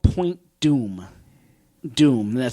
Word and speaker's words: Point Dume: something called Point Dume doom that spelled D um e but pronounced doom on the coast of